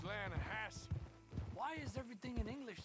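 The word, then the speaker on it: Lannahechee: no no no no no no the the lahache it runs right near here yeah but it's pronounced lanahassee why is everything in English said differently than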